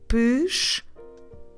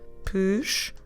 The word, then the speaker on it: pescoço: Okay, I know this one it's a bit hard because we drop the letter E on the first syllable when we're pronouncing it.